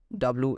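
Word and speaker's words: 와: So the first double vowel is WA in Korean, written something like this. Here you can see A have same symbol, and it is pronunciated as wa, wa, okay.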